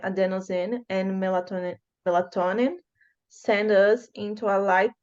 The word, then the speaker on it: melatonin: So emphasis in the nin. Okay. Melatonin. Melatonin.